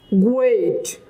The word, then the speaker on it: great: This on also from uvula, great, great, not great, great.